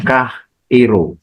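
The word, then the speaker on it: χαίρω: ya itu bahasa Yunani ditranslasikan Kairo pengucapannya kah Iro yang definisi kata kerja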